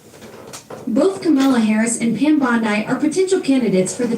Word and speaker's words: Bondi: Bond. I know that.